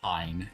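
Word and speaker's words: Kain: Technically, his name is pronounced Kine in the Japanese version, but I'm gonna keep calling him Kane because it just sounds better in English.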